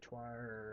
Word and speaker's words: coir: The problem is all the alternatives that are popular right now, like the cocoa coir or choir, or I hear it pronounced a bunch of different ways.